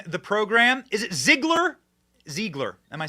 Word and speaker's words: Ziegler: Ziegler. Am I saying it wrong? It's Ziegler, but it's Ziegler.